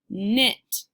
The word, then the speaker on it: knit: not-not-not or mmm it knit so again this is our new spelling for the sound sometimes a word will be spelled with the letters K and but it makes that sound yeah and classkick on